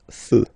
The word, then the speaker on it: feux: You don't put s, but you will put x instead, and then you don't pronounce it. Des feux, un feu, des feux.